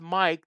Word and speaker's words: MYK: Oh, Kevin West says thank you, and MYK pronounced Mike.